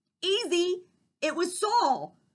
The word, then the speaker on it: Saul: It was Saul. Saul rhymes with Paul.